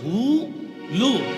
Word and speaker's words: হুলু: ঠিক তদ্রূপ উলু হবে না, উচ্চারণ হবে হু লু।